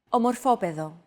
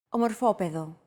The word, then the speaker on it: Ομορφόπεδο: By the way, did you notice that although this word is longer than the previous one, it feels as if the syllables are pronounced faster? Όμορφος. Ομορφόπεδο.